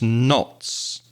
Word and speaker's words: knot: We use knots to measure speed. Knot is spelled K-N-O-T, so there's a silent letter there, a silent K, knot.